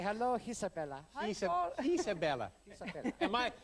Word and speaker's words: Isabella: Isabellla. Am I over-pronouncing your name? Say it again. Isabellla. Yes. But you know, it's fun. It's fun. I'm putting a little Italian into it.